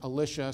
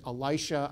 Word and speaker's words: Elisha: instructed by god is the prophet alicia some people pronounce it elisha i don't like that because then it's elijah and elisha and they sound too similar and in hebrew it's more obvious that their their names are different and the story is